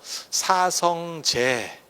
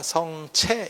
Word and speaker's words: 사성제: 거였고 그리고 그것을 쉽게 못 바꿨던 거예요 그래서 사성제 원래는 그게 자거든요 성체 이렇게 발음이 나거든요 한자 옥편에 찾아보면 근데 왜 사성제